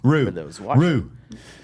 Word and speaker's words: roux: The paste or rao is then added to the bread dough. Roux. Roux. Okay, roux.